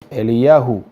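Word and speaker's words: אליהו: más sobresalientes sin duda el nombre de elías viene de una palabra hebrea que se pronuncia eliyahu y quiere decir mi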